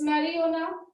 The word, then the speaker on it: marijuana: It's marijuana. We will not call it marijuana. It's a marijuana. The J is silent here.